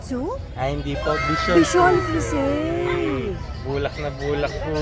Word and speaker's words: Bichon: Tama ba ang pagkakapronounce ko? Bichon.